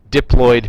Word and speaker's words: diploid: Okay, diploloyid means that you have two copies of everything, right? The word diploid spelled like this diploloyed. Okay, not deployed.